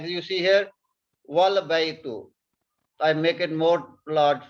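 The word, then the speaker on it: وَالْبَيْتُ: You see here, wal baytu. So before Hamzatul Wasal, there is a word one, wow. We will not pronounce here Hamza. We will pronounce wow with the lam.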